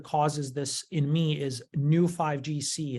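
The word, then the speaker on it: Neu5Gc: the molecule that causes this in me is new 5gc it's spelled neu5 GC and I think that this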